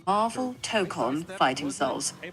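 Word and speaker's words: Tōkon: Okay, if you mean the new PlayStation game, it's called Marvel Tokon Fighting Souls, pronounced Marvel Tokon. Emphasis on that first syllable.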